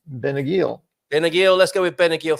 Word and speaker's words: Benagil: knew them I'm not I'm unclear a little bit on the G with the I but I think it's a hard G and the emphasis is going to be on the uh final syllable because it ends with L so I would say it's benagil benagil let's